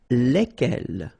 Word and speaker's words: lesquels: And it will give you the pronunciation lesquels. All right, so final S is not pronounced. So here, when you get this L-E-S, okay, it's just like the article, if you remember, les, okay? So it goes like lesquels, all right?